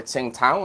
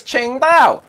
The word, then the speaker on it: Qingdao: to call it a Tsingtao. And then I went and lived in China for a little bit. Actually went to fucking Tsingtao, and they told me, you're Yeah, wrong, that's mate. pronounced. It's Qingdao.